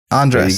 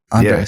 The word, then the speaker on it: Andrés: Andrés. There you go. Andrés. Yeah, Andrés. Yeah, you say it pretty good. You can roll your R.